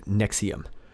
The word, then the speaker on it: NXIVM: Rainier has served as the leader of an organization near Albany called NX IVM pronounced nexium the group which describes itself as a self-help organization denies it as a call but former members have said that mr.